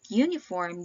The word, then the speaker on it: uniform: The word uniform begins with the letter U. It is a vowel, however, when you pronounce it, it begins with the sound y.